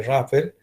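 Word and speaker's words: rougher: vamos a escribir audio se pronuncia rapper en la que procesa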